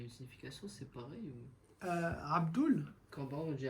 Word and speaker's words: Abdul: Selon le nom, on fait oul ou el, selon le nom qui va suivre.